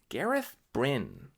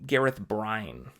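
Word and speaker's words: Gareth Bryne: it's egg Wayne Wayne emphasis on the second syllable their egg Wayne sounds nicer eggwin no no it's dumb Brynn Gareth Brynn yeah I was calling him Gareth brine anybody else do that I think because of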